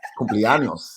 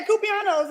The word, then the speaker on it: cumpleaños: And Cumpleaños. yeah, yeah, yeah, that's it. And I was like, yeah, Cupianos, and they was like, okay, okay.